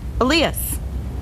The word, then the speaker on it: Elias: Okay, so he tells me, think of Aaliyah and just add the sound at the end. Elias.